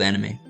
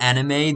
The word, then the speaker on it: anime: Also, it's not anime. The actual pronunciation is anime, but I say anime because I am an Australian and I'm not Japanese, so...